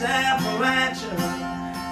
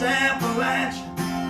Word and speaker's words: Appalachia: It's pronounced Appalachia with a Perry County drawl.